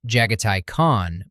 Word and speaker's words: Jaghatai Khan: That was Jaghatai Khan, pronounced Jaghatai Khan per the GW Fandom Wiki, Primarch of the fifth